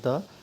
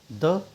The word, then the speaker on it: the: द को हम लोग क्या करते हैं, द भी पढ़ते हैं और इसको दी भी पढ़ते हैं। ठीक है, दी। ठीक है, द कहाँ पर पढ़ेंगे, जहाँ पर जो हमारा कॉन्सोनेंट साउंड होगा। ठीक है, जब कॉन्सोनेंट साउंड होगा यानी कि यहाँ पर ऐसा कोई नाउन होगा जिसका प्रोनाउंसिएशन जो है कॉन्सोनेंट साउंड से स्टार्ट होगा, तो हम इसको दा पढ़ेंगे।